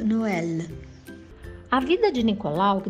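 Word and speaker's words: Noël: qual Noel significa Natal já no francês é pronunciado no ela a vida de Nicolau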